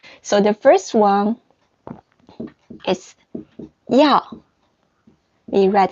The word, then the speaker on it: 要: The pronunciation is 要.